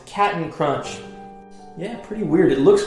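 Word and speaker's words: Cap'n Crunch: of this famous cereal is it Captain Crunch or is it cat and crunch let me know in the comments below if you said Captain Crunch you are wrong it's cat and crunch yeah pretty weird it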